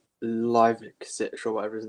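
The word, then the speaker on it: Livaković: Livicic or whatever his name is. Yeah, it's not. I used to say Livakovic. It's actually Lajkovic, I think.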